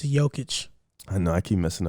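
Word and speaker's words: Jokić: for joking joking so it's a y it's like a y okay i feel like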